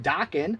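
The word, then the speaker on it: Dokken: And in the last video, I sold a Dockin cassette, which I now know is pronounced Dockin, thanks to Rolling with the Stones. Dockin rhymes with rockin'.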